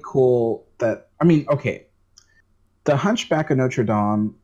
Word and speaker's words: Notre Dame: It's Notre Dame. People say Notre Dame, but that's not the way you pronounce the Paris church.